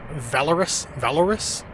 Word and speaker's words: Volaris: I flew with Volaris, by the way. I think they pronounce it a different way. Valoris. I like Volaris better, so that's how I'm going to pronounce it.